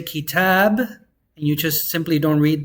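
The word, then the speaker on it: كتابًا: And you're only going to pronounce one. Don't pronounce the alif.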